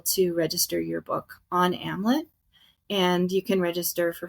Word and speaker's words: Amlet: Yeah, you can actually go to amlet.ai, and it's Amlet rhyming with Hamlet, because our founder had this he just didn't want life for authors to end in tragedy.